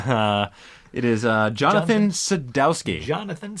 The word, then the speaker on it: Sadowski: of this podcast uh it is uh jonathan sadowsky jonathan's pronouncing that right sadowsky sadowski yes okay just making sure i don't want